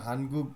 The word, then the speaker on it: 한국의: 한국의 전통 একটা জিনিস খেয়াল রাখবেন এই যেমন হানগুগ উই আছে উই এই উই উ এবং ই উইরা যদি শেষে থাকে এর উচ্চারণটা এর মতো হয় এ হানগুগে। শেষে থাকলে রাইট।